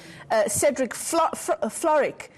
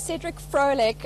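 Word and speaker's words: Cedric Frolick: And this time, Erin, it's ANC MP and National Assembly House Chair Cedric Floric. Or let me try that again. Cedric Floric, is that the right pronunciation?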